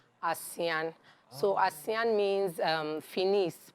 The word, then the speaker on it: Assain: natural is there a reason why it's called Asian uh yeah it's actually an ebibi award is called asean It's pronounced asean so asean means um finis Panache Elegance you